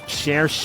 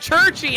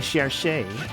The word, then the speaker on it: Cherche: Cherche is how you pronounce it, Limit. I pronounce it Churchy. I actively was trying to avoid it the way I normally say it. Well, it's canonically Cherche. I know it's supposed to be Cherche.